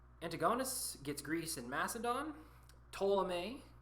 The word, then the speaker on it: Ptolemy: Ptolemy, the P is silent, gets Egypt.